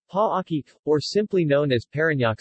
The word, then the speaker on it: Parañaque: Parañaque, officially the city of Parañaque, Tagalog, Lungsod ng Parañaque, Tagalog pronunciation, Pa-aki, or simply known as Parañaque City, is a first-class highly urbanized city in Metro Manila, Philippines.